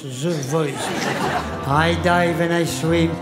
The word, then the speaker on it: The Voice: Ça s'écrit Te Voice, mais ça se prononce The Voice.